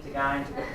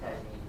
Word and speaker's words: tagine: Can everybody say the word tagine? Tagine. Not tagini, tagaine.